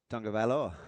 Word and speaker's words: Tagovailoa: Well, how does it pronounce? Tagovailoa. Tagovailoa.